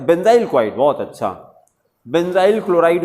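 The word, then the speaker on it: benzyl: एन जड वाई एल बेंजाइल इसी को बेंजिल भी कहते हैं बेंजाइल भी जो भी प्रोनंसिएशन करिए स्पेलिंग वही रहेगा बी एन जड वाई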